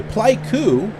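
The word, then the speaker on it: Pleiku: uh but yeah anyway P cou which rhymes with Haiku p e i KU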